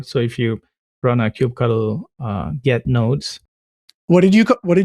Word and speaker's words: kubectl: So I followed this similar progression where it was kubectl. And then I was like that's too many syllables. And then I learned that in some of their documentation, Kubernetes was like the official pronunciation is kubectl. But then I never got to cube cuddle.